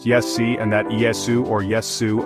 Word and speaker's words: Iesu: Alan Wilson and Baron Blackett have stated the Qumric calling of the name Jesus is Iesu pronounced Yessi, and that Iesu or Yesu, Iesu, is almost identical to the Hebrew Yeshu.